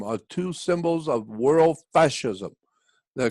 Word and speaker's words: fasces: It's a fascist. It's almost spelled like fascist, but it's actually that pole. It's the fasci.